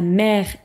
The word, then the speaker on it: mère: Attention, en français, on a la mère et la mère. Donc on a 3 mots qui se prononcent de la même manière, mais qui ne veulent pas dire la même chose.